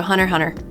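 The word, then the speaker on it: Hunter × Hunter: health problems oh no also the x is silent in the title yeah true Hunter Hunter which also makes no sense but yeah oh the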